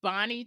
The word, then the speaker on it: Bahni: and the narrator is Bonnie Turpin. I hope I'm pronouncing her name right. It's spelled Bahni. So I hope that it's Bonnie. But when I first got